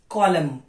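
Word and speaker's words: column: N autumn न autumn autumn डम डम कंडम कॉलम न कॉलम कॉलम now silent letter T ससल please pay attention T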